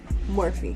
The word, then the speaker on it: Morphe: know, this is a Morphe brush, I believe. Or is it Morphe or Morphe? Morphe. I said it right the first time.